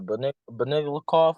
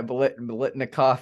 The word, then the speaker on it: Biletnikoff: called, the Beniglikov? I don't even know how to say it. Yeah, Biletnikoff.